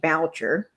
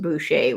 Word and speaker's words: Boucher: It It sounds like boucher. If you're looking at the spelling, it's B O U C H E R. Boucher, but it's pronounced Buchet, which I know doesn't probably make a lot of sense.